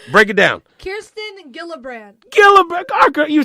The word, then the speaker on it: Gillibrand: Kirsten Gillibrand.